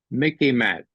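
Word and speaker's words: MICIMATT: a pencil you might take this down Mickey mat okay sort of rhymes with Mickey Mouse it's the military industrial Congressional intelligence media Academia Think Tank complex Mickey mat everything is sort of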